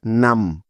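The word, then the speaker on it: numb: আছে যে কারণে এখানে বি এর কোন সাউন্ড হবে না অর্থাৎ বি বর্ণটি এখানেও সাইলেন্ট থাকবে যেহেতু এই নিয়মটি আমরা কিছুক্ষণ আগেই শিখি তাইতো সুতরাং এন ইউ এম বি মিলে হবে নাম অর্থ হলো অবস কোনভাবেই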